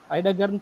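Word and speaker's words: Heidegger: ஹசல் ஒருத்தர், ஐடகர்னு ப்ரொனவுன்ஸ் பண்ணுறாங்க, அதை HEIDGER ஐடகர் அப்படின்னு ப்ரொனவுன்ஸ் பண்ணுறாங்க. ஏன்னா அவங்க யூடியூப்பில் அப்படி தான் பேசுகிறானுங்க, நான் பார்த்தேன் அதை.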